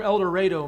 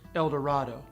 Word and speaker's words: El Dorado: river and the old california road the term el dorado means golden land and certainly in some parts of the country they pronounce it el dorado but here we call it el dorado